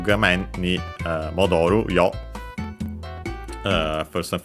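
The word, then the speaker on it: 画面: Gamen on its own is accented on the first syllable, so be careful. It's one of, despite being a Chinese compound, it's one of those that are accented there instead of being unaccented. Then we have the particle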